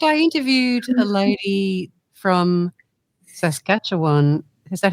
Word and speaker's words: Saskatchewan: In fact, I interviewed a lady from Saskatchewan. Is that how you pronounce it? Saskatchewan in Canada.